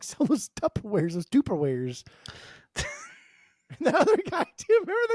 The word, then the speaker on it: Tupperware: going to tear that why you saying tuperware what do you me how do you say how you you say it it's just Tupperware it's there's two ke's in there you didn't say that